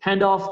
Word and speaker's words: handoff: que son muy comunes: handoff, close out, ball screen, spot up, box out, me falta una coma ahí, mismatch, que es otra palabra. Siempre la sílaba tónica es la primera.